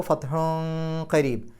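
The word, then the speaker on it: فتحٌ قريب: മതി മിനല്ലാഹി വ ഫത്ഹുൻ ഫത്ഹുൻ എന്നുള്ളിടത്ത് അവിടെ ഹാഇന് തൻവീൻ ഉണ്ട് ശേഷം കാഫാണ് കാഫിന്റെ മുമ്പ് തൻവീൻ വന്നാൽ അവിടെയും ഇഹ്ഫാഹ് അപ്പൊ ഫത്ഹുൻ കരീബ് കരീബ് എന്ന് കഴിഞ്ഞിട്ട് അവിടെ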